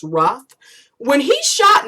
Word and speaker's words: Roof: Because when it was Dylan Ruff, yes, his last name is spelled like Roof, but it's really pronounced Ruff.